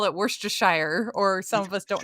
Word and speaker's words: Worcestershire: Yes, he gave me a whole lesson because we call it Worcestershire, or some of us don't know True. how to say it. Yeah, I say Worcestershire.